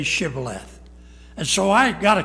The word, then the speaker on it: shibboleth: man that passed by say now shibboleth and he answered sybileth watch it underline it for he could not frame to pronounce it right then they took him